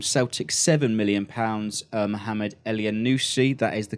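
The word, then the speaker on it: Elyounoussi: to Armstrong from Celtic seven million pounds Mohamed le a new seed that is the correct pronunciation by the way 16 million from Basel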